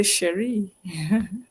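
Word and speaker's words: chérie: It's spelled C H E R I E, but I think it's pronounced the same. You say Sheree.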